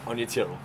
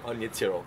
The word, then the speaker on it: Aine Tyrrell: We are at the Geelong Waterfront Skate Park and I'm joined by Anya Tyrrell. How you doing? Well done. I pronounced it correctly. You did really well.